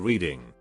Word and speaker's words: Reading: The UK Dyslexia Association is situated in Reading. Pronounced Reading to those unaware.